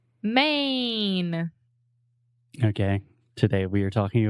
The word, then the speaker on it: Maine: in e in English we don't pronounce the E the E is silent so just main main exactly I don't want to hear any of our students saying my knee or anything like that